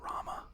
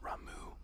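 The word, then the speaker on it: Ramuh: I think it's actually but I always said Rama when I was a kid like raah Ramen RAM and then uh uhu Rama is what made sense to me but apparently it's pronounced ramu which kills me um so I I had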